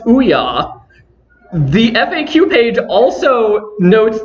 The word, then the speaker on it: OUYA: to pronounce it, and it is pronounced OUYA.